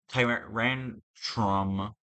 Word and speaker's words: Tyrantrum: I want to replay it again, and then I can choose Tyrantrum.